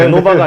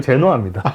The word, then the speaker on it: 제노아: 근데 한국 발음이랑 좀 틀려요. 롬, 제노아, 그렇죠? 네, 제노바가 아니고 제노아입니다.